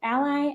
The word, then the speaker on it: a11y: sure for accessibility and sometimes pronounced Ally I guess so the 11 is the 11 letters between the A and the Y really quickly before we